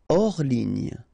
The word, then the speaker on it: hors ligne: Hors ligne, final here not pronounced, so ligne, and then here S is not pronounced, the final one, so hors, and remember H doesn't exist, so hors ligne.